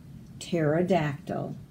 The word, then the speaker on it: pterodactyl: You don't say the P. The P is silent. Pterodactyl.